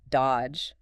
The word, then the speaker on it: dodge: The classic example given is the word dodge. D O D G E. Right. You don't say that middle D at all.